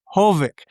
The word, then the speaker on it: Haavik: Haavik. Brilliant. Yeah. It's And an old Norwegian name, so that's hard great. to pronounce.